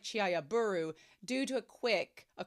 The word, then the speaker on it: Chihayafuru: but it's pronounced like chiaburu due to a quick a quirk of how compound words work in Japanese.